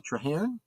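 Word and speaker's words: Trahrn: and alen um TR how is that pronounced trar t r a h r n trar yes yes thank you very much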